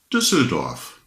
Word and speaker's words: Düsseldorf: What I remember, one word what Motorhome had was Düsseldorf. That is the right pronouncing of the town in Deutschland, in Nordrhein-Westfalen, im Ruhrgebiet, ist die Stadt Düsseldorf.